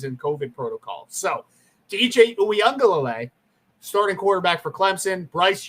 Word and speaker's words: Uiagalelei: in a new starting quarterback, but also DJ Uiagalelei did start a couple games last year in Trevor Lawrence's absence. Wait, can you say that again? DJ Uiagalelei. That's how you pronounce it.